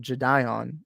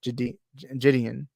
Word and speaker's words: Gideon: it and I remember I used to pronounce it jedion or jedion something like that and I and I put that and he actually corrected me and I was like it's actually Gideon or Gideon something like